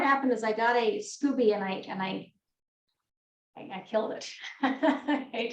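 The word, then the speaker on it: SCOBY: So he actually makes his own kombucha, and he has is it Scooby? I can never get the pronunciation right. Scooby, and yeah, it is Scooby.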